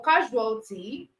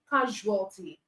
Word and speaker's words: casualty: All right, so for casualty, the S sound, this S letter is giving us the j sound. Okay, it's giving us the j sound as a measure. All right, casualty, casualty. That's the word casualty.